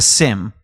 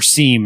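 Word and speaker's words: SIEM: So, first thing is this is a SIM and and we don't pronounce the E.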